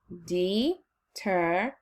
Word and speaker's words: determination: Oh, the last syllables makes the sound shun. And it's one of those endings to watch out for. And it's spelled like the letters T-I-O-N. All right? So now I'm going to input T-I-O-N. Remember, shun could be S-I-O-N, but not in this one, it's T-I-O-N.